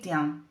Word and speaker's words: tient: La primera, la segunda y la tercera persona del singular se pronuncian igual, je tiens, tu tiens, il tient. Las desinencias SS y T no se pronuncian, encontramos un mismo radical